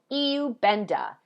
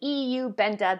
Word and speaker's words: Iubenda: gonna talk to you about today is called EU benda I know it says ru benda if you're in the United States but these are Europeans and the AI is now pronounced an e EU benta that's how you say it this is a